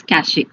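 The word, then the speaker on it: cache: cachier c a okay some people will pronounce cash memory but the correct is cach a okay so cash a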